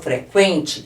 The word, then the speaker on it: frequente: playlist para você aprender quando eu falo frequente eu pronuncio esse U aqui Ó frequ qué eu pronunciei o u e agora quebrar eu